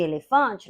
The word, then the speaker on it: elefante: a palavra é oxítona no caso de elefante nós temos a segunda sílaba forte do final da palavra para o início dela então ela é uma paroxítona depois eu tenho chamei